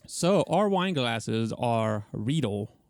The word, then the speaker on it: Riedel: So, our wine glasses are Riedel, rhymes with eagle.